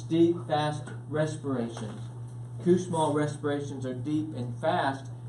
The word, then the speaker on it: Kussmaul: I was putting an H in it for like 15 years, okay, until someone corrected me. But it's Kussmaul.